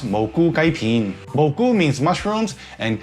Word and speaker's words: Moo Goo Gai Pan: It's a weird sounding name, especially because I'm a Cantonese speaker, and it is actually pronounced Moo Goo Gai Pan.